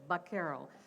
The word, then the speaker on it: vaquero: Now, when the Americans show up, they notice this is how the Spanish pronounced it, and especially in California, it was more that kind of a Sevilla accent. So it sounded like a B instead of a V, so vaquero.